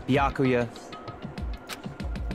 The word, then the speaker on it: Byakuya: moments what do you want backa it's byakuya I was saying it right I'm I'm sorry